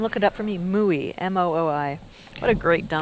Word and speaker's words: mooi: Mooi, M-O-O-I. What a great dump. That one is from Dutch and Afrikaans. It's mooi, kind of is how you say it, and it's something that's beautiful or pretty.